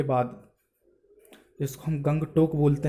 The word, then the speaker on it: Gangtok: हिसाब से आप इसे गंगटोक भी बोल सकते हैं है लेकिन अ आपको यह याद रखना है कि यहां का सूजी है वह साइलेंट है है क्योंकि हमारे